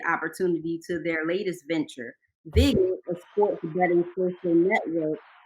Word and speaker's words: VIGIt: It's pronounced VIGIt. So a vigorish or a VIG is a sports betting term, and it's the bookmaker's cut.